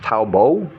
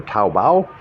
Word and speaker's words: Taobao: And the one I'm really impressed with, is kind of impressed with, is called, I think it's pronounced Taobo or Taobao.